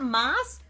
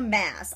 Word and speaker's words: Maas: Okay, do you say it Maas or Mass? I've heard people say it both ways, and I had a friend in college who had the same last name, and she pronounced it Maas, but some people pronounce it Mass, and I don't know.